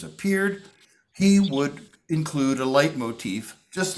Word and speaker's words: leitmotif: What that is called is a musical leitmotif. Can you say that word? Leitmotif? Leitmotif. It's spelled L-E-I-T-M-O-T-I-F.